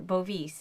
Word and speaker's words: Bovis: bovis is that how you skir ectly say his